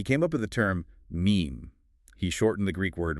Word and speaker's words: meme: And he came up with the term meme. He shortened the Greek word mumme, which means that which is imitated. And it rhymes with gene.